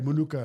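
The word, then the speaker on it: Minooka: Is it Manuk? Manuk. Is it A at the end? Is Manuka? Yeah, Manuka.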